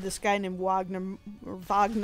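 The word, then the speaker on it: Wagner Moura: guy named Wagner or Vagner I don't know if he says Vagner like the German or if he says Wagner or Wagner uh Wagner mura I think that's how you say it but he's he's a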